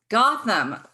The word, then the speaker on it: Gotham: name is it bottom it's pronounced same as batman city so it's gotten gotham okay yes hey gotham